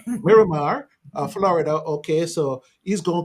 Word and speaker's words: Miramar: Yeah, you give me the proper pronunciation for that. Miramar. Miramar.